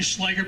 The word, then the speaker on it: Schleicher: It's actually Schleicher, but it's German, so who really gives a fuck anyway?